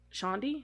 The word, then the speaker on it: Chandi: was previously married to chandi Hefner I think that's how you say it though Shandy is that how you say it c-h-a-n-d-i yeah that sounds better though not much is